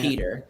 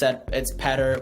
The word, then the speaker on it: Petr: It's spelled Petr. You say it Peter. Technically, you could say it. Well, technically, it's Petr or Petr, which is how you would say it.